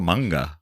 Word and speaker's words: manga: Additionally, she's made appearances in songs, novels, and manga. Is that how you say it? Manga or manga? It's manga.